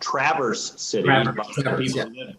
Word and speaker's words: Traverse City: are from michigan yeah from michigan it's actually pronounced traverse city yeah unlike we've reversed the snow it is